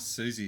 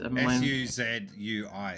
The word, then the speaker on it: Suzui: It's not Susie, it's Souza. Souza? Let me see. It's S-U-Z-U-I.